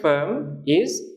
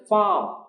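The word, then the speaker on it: farm: আর এম এটা হচ্ছে ফারম উচ্চারণটা হল ফারম এটার অর্থ হচ্ছে খামার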